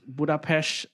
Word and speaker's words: Budapest: So the in Hungarian spelling the S is a sh sound.